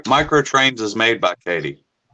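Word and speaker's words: Kadee: up uh edward uh is it katie or caddy edward katie katie edward no no affiliation uh because it's spelled differently from uh katy perry no uh katie couplers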